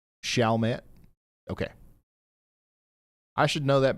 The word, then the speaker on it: Chalmette: It's pronounced Chalmette.